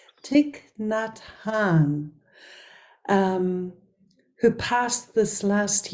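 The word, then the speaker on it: Thích Nhất Hạnh: Community the community of I just learned how to say the name tick not Han I've also and maybe some of you make the same mistakes so it's actually tick not Han um who passed this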